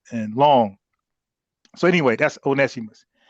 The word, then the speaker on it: Onesimus: So anyway, that's Onesimus, right? Who Tariq said once, but I know he's talking about and his name is spelled like that, but it's Ones Onesimus.